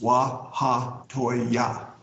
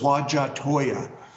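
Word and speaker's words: Huajatolla: what do you say waha Toya like four syllables waa ha joy yeah which means breasts of the world people say what's La Hoya and so they get that wrong and also there's two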